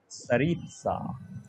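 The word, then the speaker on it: Tsaritsa: सरित्सा, उसका name स्टार्ट होता है टी से। सरित्सा टी Oh, साइलेंट है।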